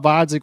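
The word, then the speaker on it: Gvozdyk: fight um when benovitz fought vodik with the silent G um he started off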